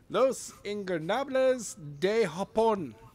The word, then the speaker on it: Los Ingobernables de Japón: So Adam, why don't you pronounce Naito's stable name? LIDJ. The actual name, not the abbreviation. Los Ingobernables de Japón.